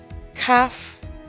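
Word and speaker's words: כ: Kaf, with spelt K-H-A-F, is the 13th letter. It is the same as kaf without the dagesh, pronounced with a KH, as in bark.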